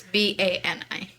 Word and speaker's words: Bani: That's how you spell it in, like, India or whatever. It's B-A-N-I.